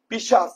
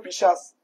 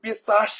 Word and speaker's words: পিশাচ: পৈশাচিক আনন্দ, সেটি কিন্তু পিশাচ, নর পিশাচ যারা আছে তাদের মতো আনন্দ। অনেকেই উচ্চারণ পিশাচ করেন, খেয়াল রাখবেন পিশাচ হবে, কি হবে? পিশাচ।